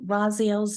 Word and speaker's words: Raziel: this topic today Archangel raziel's name means secrets of God or knowledge of the Divine as you could hear it's pronounced Raziel emphasis on the second syllable the origin of the